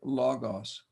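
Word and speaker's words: λόγος: um the word logos notice I put the accent over the first syllable long o logos logos this word can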